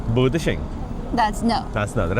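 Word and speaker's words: 不得行: 不得行, yeah. Okay. So that's no. So 摇得. 摇得. That's yes. Okay. 不得行. Budashing.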